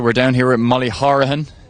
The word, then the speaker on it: Horahan: Okay, so we're down here with Molly Horahan, which is pronounced the Cork way.